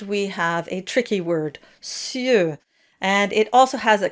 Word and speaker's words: cieux: And for the plural, you get cieux, so it has the œ sound at the end. And that is very forward and rounded.